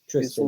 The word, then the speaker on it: Tristan: Tristan. Isolde? Yeah. Tristan. Well, I have my brother's name Tristan, so I know that name. What's the girl's name? Oh, I S where is it? thirsty, hot, and Tristan and Isol, Isil.